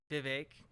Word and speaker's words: Vivek: dude wait it's vivec Vivek is alive Vivek is his stage name oh God Vivek it rhymes with cake that's how you actually pronounce it okay so he's literally